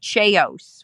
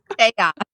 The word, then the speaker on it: chaos: He talked about Cheos one time, and we were like, "What's Cheos?" It was chaos. And, but he was pronouncing it as it was written, Right.